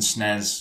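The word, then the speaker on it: SNES: it yeah nes yeah so nez and snez yeah for the uk yeah that's what we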